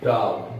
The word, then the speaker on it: doubt: डाउट, DOUBT, डाउट, BA silent, डाउट।